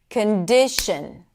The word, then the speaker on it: condition: Would it be on the last syllable, condition, right? What would feel more intuitive and natural and not out of place? I'm assuming that most of you said condition because that is the primary stress.